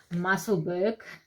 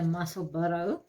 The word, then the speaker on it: Musselburgh: And just to tell you guys something is, I thought when I saw this it's pronounced Musselburgh until Mariette actually corrected me and said no, it's a Musselburgh hat.